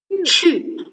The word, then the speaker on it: 去: So you can put your hand in front of your mouth. It has a very strong air when you read it. 去.